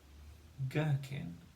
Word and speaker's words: gherkin: Gherkin, good. Gherkin, kin, gherkin. And we've got the G-H spelling there at the start of gherkin.